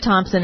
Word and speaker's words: Thomson: It's Gesine, and her last name is Thomson without a P.